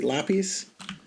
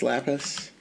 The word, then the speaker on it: lapis: what do I say I say lapies laies yeah and it's lapis apparently I don't know I